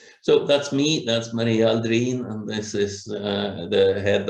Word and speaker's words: Aldrin: He is a Swedish descendant, you know, and it should properly be pronounced Aldrin, not Aldrin.